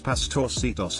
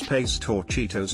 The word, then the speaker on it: Pastorcitos: I said the soft C is pronounced like an S. An old lady in the group said it was pronounced like the CH in cheese. I said you're thinking of Italian. In Spanish it's pronounced as an S or in many European Spanish dialects like a TH.